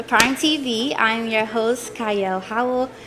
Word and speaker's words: Qiayel: I'm your host, Qiayel. Howell starts with a Q, but it is pronounced Qiayel.